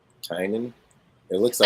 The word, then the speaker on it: Tynan: James Tinian? Tynan. Tynan. It looks I like guess because it's supposed to be like Tiny Onion, because that's his thing, is that he did like Tiny Onion.